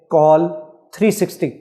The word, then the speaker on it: QOL 360: Stamp 360 ने एक game launch किया है जिसका नाम है कॉल 360, जिसकी स्पेलिंग है QOL 360।